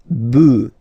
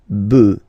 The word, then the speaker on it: bœufs: just add this s, but then pronunciation changes quite much, because you get des bœufs, all right? Un bœuf, des bœufs, all right?